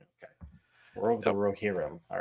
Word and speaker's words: Rohirrim: Yeah, the Lord of the Rings, the War of the I can't pronounce this. War of the that word. Rohirrim. Rohirrim. Okay, War of the Yep. Rohirrim.